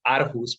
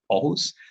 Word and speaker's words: Aarhus: In Aarhus, a lot of the foreigners know the city as Aarhus, but we actually pronounce it Aarhus.